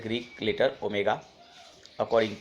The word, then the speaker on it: ohm: सो द SI unit is ओम, represented by the Greek letter omega according to ओम्स लॉ। तो ये आप उसको pronounce करेंगे ओम, हम ओमेगा नहीं बोलेंगे, ओम ही बोलेंगे।